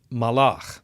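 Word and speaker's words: מָלַךְ: M, L, and K, can mean king, in which case it would be pronounced melech, and he reigned, a verb, pronounced malach, but it all depends on which vowels are supplied by the reader.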